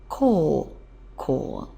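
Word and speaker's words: 高校: get high school and that's pronounced call call now it's translated as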